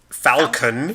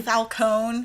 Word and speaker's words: Falcone: It's either Ben Falcone. Falcone. Falcone. Falcone. Falcone. Falcone. Falcone. Ben Falcone. It's Falcone. It's Falcone. It's Falcone. It's not Falcone. Ben Falcon. It's his superhero name.